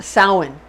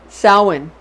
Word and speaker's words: Samhain: like it's spelled samhain but it's actually pretty pronounced samhain samhain it's spelled like salmon but we say salad